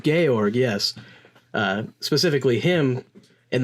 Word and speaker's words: Georg: how's this name pronounced it's not George it's it's gay org gay org yes uh specifically him